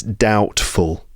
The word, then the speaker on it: doubtful: And it's worth noticing that the B in that word is silent.